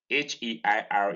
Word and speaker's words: heir: in ear in pair in eir in air heir is pronounced exactly the same way as a ir